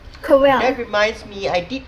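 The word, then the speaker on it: Corel: Fact, it's actually pronounced Coral.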